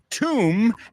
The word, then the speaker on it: tomb: saying them com is tomb and bomb Oh my God and Tom Tom R it's not Tom it's it's same sound it's a little trick so you don't say Tom Raider and bomb rhymes with